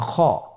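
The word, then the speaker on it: خ: ছবিতে দেখুন খ হরফটি কীভাবে উচ্চারণ করতে হবে। খ হরফটির মাখরাজ হলো কণ্ঠনালীর শেষ ভাগ হতে উচ্চারণ করতে হয়, কণ্ঠনালীর শেষ ভাগ।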